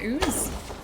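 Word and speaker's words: Ouse: Pronounced the same as ooze. Oo is how you say it. The great river ooze.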